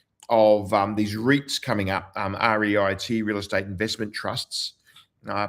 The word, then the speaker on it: REIT: We saw this sort of fashion in particularly in the US of these REITs coming up REIT real estate investment trusts. Uh pronounced REIT.